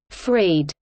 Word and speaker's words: Fried: is often known as the fried parameter pronounced Frede named after David L fried the atmospheric time